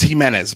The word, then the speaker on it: Jimenez: This is Martin Willis, and right now I have Jimenez on with me, and I hope I pronounced your name. It's Jimenez, but that's fine.